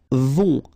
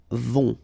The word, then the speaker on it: vont: Then, ils vont. Final T not pronounced. And then, O and together. On vont.